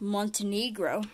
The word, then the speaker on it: Montenegro: Montenegro and it's pronounced Montenegro.